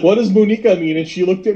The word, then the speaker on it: muñeca: So we're mispronouncing it. I'm not. No. It's muñeca.